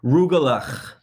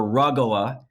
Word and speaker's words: Rugelach: Rugelach. See, it has to sound like you have a severe sinus infection or something to say it right. Rugelach or rugala, if you're a New York Jew, like my family is,